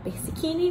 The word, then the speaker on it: Persichini: Meu nome é Persichini, que se escreve Persichini e fala Persichini.